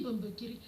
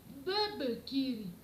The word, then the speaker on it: Mbembekiri: Quand je lui dis Mbembekiri, il ne dira jamais Mbembekiri. Il me dira ceci, Bebekiri. Je vous assure. Pourquoi? Parce que dans sa langue qui est le français, Mbembekiri serait prononcé Bebekiri. N'est-ce pas?